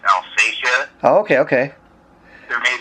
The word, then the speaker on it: Alsatia: things we've found say that it should be pronounced alfasia oh okay okay there may be another way